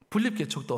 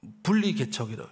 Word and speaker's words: 분립개척: 분립개척도 어떤 분들은 발음을 좀 잘못해가지고요 자꾸 분리개척이다. 이런 분리가 절대 아니에요. 분리는 마귀가 조장하는 거거든요. 분리개척이 아니고 분립. 그래서 따로 저기다가 세우는데 이거는